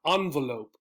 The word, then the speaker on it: envelope: show you real quick to begin with the two pronunciations again these two sounds these two symbols are for this letter the first one envelope right my cousin sent me